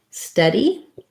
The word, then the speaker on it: steady: So then we had a request for study and steady. So the main difference here is that study has vowel schwa. It sounds like Steady has vowel It sounds like the in red and tent.